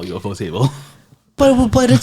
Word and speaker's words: ufotable: So I get the feeling, knowing, ufotable. Is that how we pronounce it? No, We should stick with we UFO. agreed UFO table. We should Yeah, just stick I with. will call it UFO table.